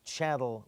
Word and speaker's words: chattel: Statement 20 says leasehold estates are called chattel real. Write in the word chattel real, rhymes with cattle.